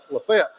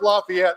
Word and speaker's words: LaFayette: great job on Lafayette it's good it's good to hear Lafayette that's the way you pronounce it Lafayette I don't know where this Lafayette stuff came from even though we do